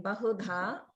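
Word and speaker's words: बहुधा: Just watch the ba in bahudha. That should be the middle, not lower.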